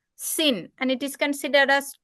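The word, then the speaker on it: שׂ: If it is in left hand side it is pronounced as sin and it is considered as two different letters.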